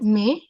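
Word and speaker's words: mais: Accent may we call it as may this means but may means but sounds like may sounds like the month May actually word French May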